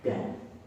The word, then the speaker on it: Gad: Zilfa punya anak namanya Gad. Kalau bahasa Inggris God. Ya, dibacanya Gad juga.